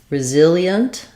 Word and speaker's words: resilient: So we have resilient. You can either do it kind of as e-unt or just yunt, resilient. It's again another place where we have two very fast syllables that almost just become one, resilient. And you can think about it like yint as well.